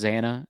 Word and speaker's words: Xana: I know it's pronounced Xana. It just bothers me when it's, she's like Xana, Xana, Xana, Xana, Xana, Xana, Xana.